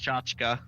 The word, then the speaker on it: tchotchke: so Merriam-Webster though says it's pronounced tchotchka.